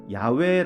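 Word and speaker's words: 야훼: 모음 없이 4개의 자음 으로만 이루어져 있습니다 그 발음은 야외 외 모든 야외 입니다 하지만 고대의 히브리인들은 여호와의 이름을 망령되게 무르지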